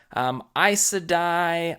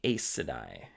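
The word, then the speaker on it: Aes Sedai: luck Lord luck anyway eisah die I would say ASA die ASA dice some of these are not like huge mispronunciations but I said I like eyes I said I I said ASA die now we're gonna get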